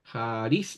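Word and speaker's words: χάρις: recuerdo Ah no bueno la expresión jis se lee así se escribe así jais así se escribe en griego ya haris debiera tener el acento ahí al menos Entonces esa x en realidad es se leen como J en griego ya pero si usted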